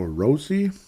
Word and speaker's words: Rossi: here comes Marco Rossy did you know Marco rossy's name is pronounced Marco rosi I guess I didn't